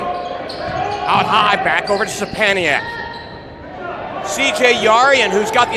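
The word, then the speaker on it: Sczepaniak: Sapaniak's name, by the way, is a load. It's spelled S-C-Z-E-P-A-N-I-A-K. Sapaniak. And he had the deflection there.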